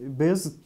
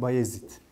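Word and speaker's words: Bayezid: bir ismi var şimdi Amasya'daki Beyazıt Külliyesi ya da işte doğru okunuşuyla bayazit Külliyesi Bu da yine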